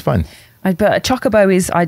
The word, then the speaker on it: chocobo: I say chocobo. It's the only correct answer.